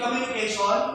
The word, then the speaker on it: communication: You need to stress on the second syllable.